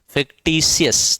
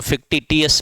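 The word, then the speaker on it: fictitious: फिक्टिशियस तो फिक्टियस मत पढ़ लेना। ये इसमें स का उच्चारण आता है।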